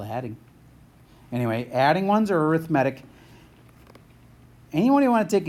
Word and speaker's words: arithmetic: add its arithmatic and I totally get this is spelled like arithmetic but you say it arithmatic if it's adding or